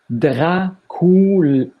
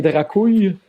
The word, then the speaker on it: Dracool: C'est comme ça qu'on le prononce. Dracool. Est-ce que le 2L, c'est le 2L espagnol? Est-ce que t'es Dracouille? Non. Surtout pas.